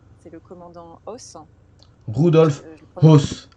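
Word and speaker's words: Höss: donc c'est le c'est le commandant os rudolp hos h o E 2 S hos en hos voilà et pas évident à prononcer hein pour les noms germanophones et en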